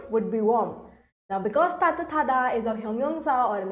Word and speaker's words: 따뜻하다: Now, how are we pronouncing 따뜻하다? 따뜻하다. 타다. When these two come together, it is pronounced as 따뜻하다.